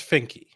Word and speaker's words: Finke: Representative does Representative Finke go by Finke or Fink? It's Finke. Okay, Finke.